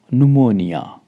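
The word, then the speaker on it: pneumonia: उसका रूल क्या है रूल कहता है कि एन और एस से पहले आया पी साइलेंट रहता है जैसे न्यूमोनिया यहां पर देखि प बिल्कुल पहले आ रहा है बट एन से पहले है तो पी हमारा साइलेंट है हम प्रोनाउंस जब करेंगे इसको न से ही करेंगे नोनिया ठीक है ऐसे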